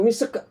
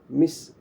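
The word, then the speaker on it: مسك: Apa kita baca mis atau misek? Kan nggak begitu. Membacanya adalah mis, harus pastikan sinnya bunyi, kafnya harus keluar sifatnya. Maka kita baca misk. Kafnya itu ada hamasnya, misk. Jadi bukan misik, bukan begitu. Ya, tapi misk.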